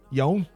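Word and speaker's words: Eoin: and they pronounce their name Young. and they're Irish. They're not. I'm trying to give a clue. I'm not trying to be fucking directly right, like when I'm giving the clues. But I suppose you the could say. pronunciation's very close. Yes, I suppose you could say Ewan, but that might be the Scottish version of it, Yeah, that's why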